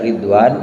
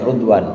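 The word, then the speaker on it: رضوان: Kalau kita sering dengar ridwanullah alaihim misalnya, ini ridwan ini bikasri ra wa dhammiha, bisa dibaca ridwan, bisa dibaca rudwan. Lugatan Qais wa Tamim. Jadi kalau logatnya logat Qais dan Tamim bacanya rudwan. Baca juga kadang-kadang ridwan.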